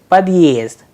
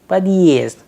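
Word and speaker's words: подъезд: The word is padyezd. Padyezd. The word padyezd, we have used exact symbol as we just learned, the heart sign after the letter there. So, there is a small pause, padyezd.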